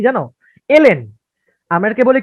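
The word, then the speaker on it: ln: মিলাই ফেলাই, ওই যে লন বলে ফেলি এটাকে আমরা, বা এরকম কিছু একটা উচ্চারণ আমরা করি, লন। অ্যাকচুয়ালি এটা উচ্চারণ লন না, এটা উচ্চারণ হচ্ছে এলএন।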